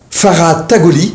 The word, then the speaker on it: Farah Tagoli: Nous avons aujourd'hui le médecin interne en médecine d'urgence, Farah Tagoli. Bonjour. Voilà, j'ai bien prononcé ? Oui, très bien.